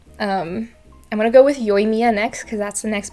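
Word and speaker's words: Yoimiya: for something for that her name is very flat again no no punch in the third syllable it's yoimia yoemia and i looked up for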